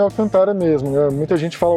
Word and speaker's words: Alcantara: E o nome é Alcantara mesmo, né? Muita gente fala Alcântara, mas Alcantara é um nome comercial registrado e se pronuncia Alcantara.